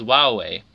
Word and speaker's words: Huawei: recognition campaign instead to encourage a pronunciation closer to hawk way using the words Wow way history earlier years during